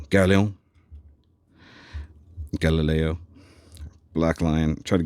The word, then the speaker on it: Gaoleon: I say it like he's French. Gaoleon.